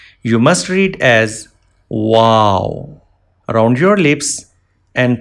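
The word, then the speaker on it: واو: Wow. Wow. Wow can be pronounced by rounding the lips.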